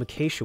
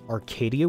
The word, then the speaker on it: acacia: decide to use some acacia wood and yes I know I'm pronouncing it correctly this time I think I used to call this wood Arcadia wood and I read the